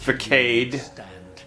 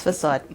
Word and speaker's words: facade: and what you are it's pronounced for Kade no its facade Fekete is a bad